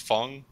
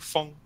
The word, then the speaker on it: Fang: So you call him Fang? Yeah. I call it Fang. It's pronounced Fung. Like, if you like shoot something out of a tube, it's like Fung.